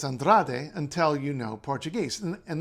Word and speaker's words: Andrade: know Portuguese and then if you know Portuguese from Portugal you think oh well andr right because the E becomes an uh at the end of a syllable and just end of a word sorry and just gets clipped short but in Brazil that